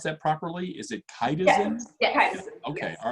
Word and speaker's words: chitosan: And did I pronounce that properly? Is it chitosan?